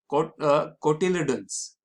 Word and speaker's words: cotyledon: This temporary supply of food is in the form of special leaves known as seed leaves or cotyledons. Sorry, it is pronounced as cotyledon.